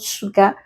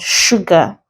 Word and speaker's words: sugar: s examples we have sugar the S the pronounced as sh not so this is not sugar but sugar we have sure we